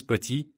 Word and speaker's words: petit: En français, on ne prononce presque jamais la dernière consonne. Par exemple, petit se prononce petit, parle devient parle, et froid se dit froid.